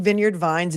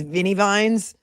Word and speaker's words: Vineyard Vines: Anybody calling vineyard vines viney vines, in my opinion, is is guilty of something. Calling vineyard vines viney is a crime in and of itself.